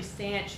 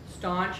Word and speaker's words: stanch: said saying that correctly it's actually stanch the bleeding staunch is something else I've been saying it wrong all this time so I did verify